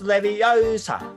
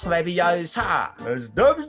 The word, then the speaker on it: Leviosa: make me proud okay it's leviosa not leviosa you're going to take